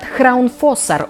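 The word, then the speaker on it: Hraunfossar: Водопад Храунфоссар – удивительное явление природы. Произносится название по-разному в различных источниках. Мне больше понравился именно этот вариант.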